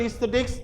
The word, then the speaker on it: aesthetics: So medieval aesthetics before he turned to writing fiction. Literary fiction, hey, listen all of you. Aesthetics, not aesthetics. I am the teacher. Listen to my pronunciation. Aesthetics.